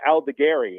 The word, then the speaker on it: Aldegheri: It's Sam Aldegheri, and he was part of the trade with Carlos Estevez last season.